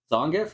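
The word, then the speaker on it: Zangief: gut just E Honda punching zongev in his uh knockback pose is that how you pronounce that name zongif yeah okay I suppose whether you're coming at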